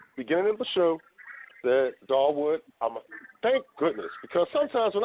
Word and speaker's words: Dawood: Because I'm going to let you pronounce it. Dawood. See, I was right. See, I said it. Beginning of the show, that Dawood, thank goodness, because sometimes when I go with